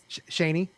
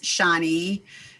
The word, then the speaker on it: Shani: you pronounce your name why are you saying it Shanee that is correct okay so how are